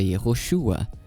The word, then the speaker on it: Yehoshua: O hebraico antigo da época de Josué e o hebraico dos manuscritos do Mar Morto atestam a pronúncia Yoshua.